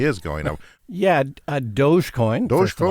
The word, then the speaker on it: Dogecoin: because people say that dodge coin is going to go up because of his appearance and it already is going up yeah uh dogecoin i think is the pronunciation doge and it's just another